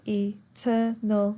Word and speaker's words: eternal: But thy eternal summer shall not fade. 10 syllables. Notice eternal has 3 syllables. Eternal. The E, just the letter E by itself, that's got its own syllable, right?